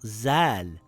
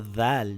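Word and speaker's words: ذ: It's not the TH in the words such as think or math, as explained earlier. That is another letter. It is also not Zal with a Z sound.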